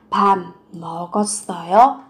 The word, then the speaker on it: 밥 먹었어요: Phụ âm b và m khi kết hợp với nhau các bạn sẽ đọc biến âm thành 밥, không phải là 밥, mà sẽ là 밥 먹었어요? Nối âm lên 먹었어요?